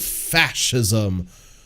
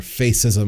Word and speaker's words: fascism: on the precipice of fascism or face ISM as it looks like it's spelled and next year the